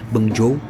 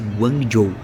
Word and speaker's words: Guangzhou: Guangzhou, que é Guangzhou escreve, mas se mas se fala, se pronuncia Guangzhou.